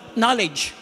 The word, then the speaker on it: knowledge: English alam natin mga English mahig sila sa silent letter for example knowledge pagulat mo may k k o w l